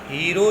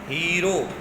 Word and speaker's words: हीरो: स्वयं संचालित विक्रय यंत्र की खोज ग्रीक अभियंता और गणित शास्त्री एलेक्जेंड्रिया हीरो ने की थी। एलेक्जेंड्रिया हीरो, यहाँ हारो लिखा है लेकिन अंग्रेजी की स्पेलिंग में देखना हीरो ने की थी।